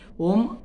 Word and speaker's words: ॐ: तो देखो, तीनों अक्षर का, अ, उ और म, तीनों अक्षर का सही मात्रा में उच्चारण होना चाहिए। तीनों को सही समय, एक समान समय मिलना चाहिए, तभी यह सम उच्चारण होगा।